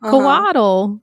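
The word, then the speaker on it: cōātl: And like, so when you ask him for the word for snake, he's like coatl, and it's coat. So like you don't pronounce the L.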